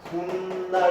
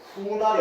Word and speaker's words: 훗날: 시옷 적어서 훗날 이렇게 되는데 발음은 어떻게 되냐면은 훗날 이렇게 됩니다.